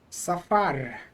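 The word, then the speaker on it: סָפַר: So the pronunciation is normal with the accent on the last syllable. Safar.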